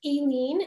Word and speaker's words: Aileen: publish this book sure so my name is pronounced aen and everybody gets it wrong so it's totally fine